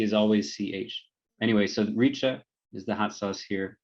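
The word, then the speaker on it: rica: up here it's called richa r-i-c-a the c in indonesian is always pronounced like ch um so if you're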